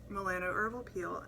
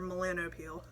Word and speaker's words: Melanopeel: You're about to exfoliate with the Melano Herbal Peel. And to that I say, or Melanopeel. Melanopeel. I call it Melano Herbal Peel. Perhaps I should start saying it right.